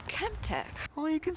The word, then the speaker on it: ChemTec: No, not Kim Ted. Kemp.